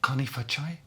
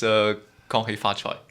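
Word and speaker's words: 恭喜發財: I didn't recognize something that sounded like Kanifachai. Yeah, that's... I pronounced it not in the That's correct pretty way. close. It's Gong Hei Fa Choi. That's Cantonese.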